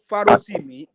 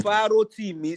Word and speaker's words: Farotimi: you how to pronounce his name. Say Farotimi. Oh, now I today forget that Farotimi. Farotimi.